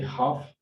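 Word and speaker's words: half: और इसी तरह से हाफ आपको नजर आ रहा है, यानी एल यहाँ पे साकिन रहेगी।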